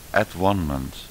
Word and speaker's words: atonement: At-one-ment heet dat op zijn Engels. Atonement zeggen ze dan. Atonement. Maar dat is net als abortus verkeerd uitgesproken. Het is abortus. Ontvruchting. En at-one-ment, atonement wordt het gezegd, at-one-ment.